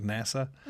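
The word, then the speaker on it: נשא: will bear it the the word is NASA which is spelled in the like a transliteration NASA like NASA which is crazy because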